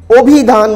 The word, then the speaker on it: অভিধান: উচ্চারণ কিন্তু আমরা করি ঠিকই অভিধান বলে, উচ্চারণে কিন্তু আমরা অভিধান বলছি।